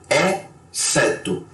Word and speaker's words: exceto: O X sem som, que esse é muito interessante, você basicamente pode esquecer que o X está ali e pronunciar só o resto da palavra, ou seja, ó, vamos lá, exceto, excitante.